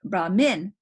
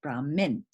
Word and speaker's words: Brahmin: this i hope not brahmin that is when the accent is on the second syllable when it's on the second syllable is brahmin okay and uh and that is the priest when is brahman that's when